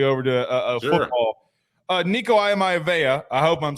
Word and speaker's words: Iamaleava: So I kept working on that, and finally I was able to get that Iamaleava.